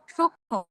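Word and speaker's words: সূক্ষ্ম: যেসব ক্ষেত্রে এমন দেখবেন যে যুক্ত ব্যঞ্জনের সঙ্গে কি মফ লাগিয়ে যুক্ত হয়েছে সেসব ক্ষেত্রে মফলের উচ্চারণ হবে না। যেমন যক্ষা সূক্ষ যক্ষা সূক্ষ িয় নিজে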